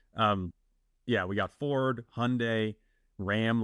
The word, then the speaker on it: Hyundai: learning that it's not Hyundai that it's Hyundai R Hyundai yeah yeah somebody in a YouTube comment was like didn't you see the Hyundai rhymes with Sunday ads and I was